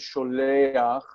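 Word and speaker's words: שׁוֹלֵחַ: It's not really there because this word is sholeach. It's not really ach. It's really sholech. But to pronounce the guttural in an easier way, that was added because the guttural here is not really ch. It's really h. It's in the throat, so it's sholeach, sholeach, and it's just added to make it easier to pronounce.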